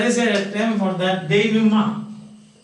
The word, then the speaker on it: denouement: And we said there is a term for that, denouement. D-E-N-O-U-E-M-E-N-T. Denouement. This pronounced like that.